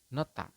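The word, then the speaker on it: 놓다: tiga itu di sini ada nohda tetapi anda di sini membacanya adalah nota seperti itu ya nota bisa dipahami teman-teman ya jadi h-nya itu tidak terbaca ya Oke Baik H itu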